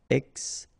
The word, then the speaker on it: extinction: Okay, remember, T-I-O-N, sion. Extinction.